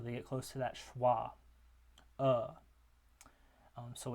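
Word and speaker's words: schwa: the middl most vow it's called schah and it's that upside down lowercase e it's pronounced uh similar to this one which is pronounced uh um so this is as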